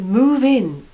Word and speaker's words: move in: ex-boyfriend number nine to move in with someone so notice how this stress is on the preposition in now you can either